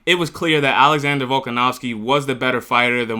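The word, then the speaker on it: Volkanovski: Now, in the other uh main event, Alexander Vcanowski, I said his name uh I said his name wrong earlier. Alexander Vulcganowski became the featherweight champion after defeating Diego Lopez uh by decision in the fifth round.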